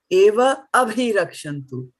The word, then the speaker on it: evābhirakṣantu: So either you say bhīṣmam evābhirakṣantu or evābhirakṣantu, right?